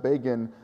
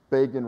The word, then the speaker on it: Begin: It was long before Begin rhymes with Fagin, to which, by the way, I think it was Sharon, who was then defending Begin, responded, and time rhymes with slime.